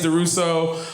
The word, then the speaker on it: DuRousseau: It is DuRousseau, but when I'm drinking red wine, I like to pronounce it DuRousseau.